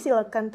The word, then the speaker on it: coelacanth: Dia dibacanya silkent. Jadi silkent ini tuh mengejanya COELACANTH, silkent. Sulit ya. Iya betul. Jadi kan itu beda ya antara penulisan dengan pengucapan gitu.